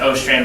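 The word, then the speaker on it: Åstrand: well this called an a strand rhyming test it's really pronounced o strand rhy rhyming but it's it's spelled a strand it's in your lab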